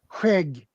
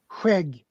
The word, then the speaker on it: Skägg: Skägg. Say it again. Skägg. Ah, I know it pronounced different how it is spelled.